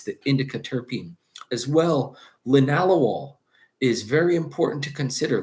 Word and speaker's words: linalool: All right, spelled linalool but pronounced linalool.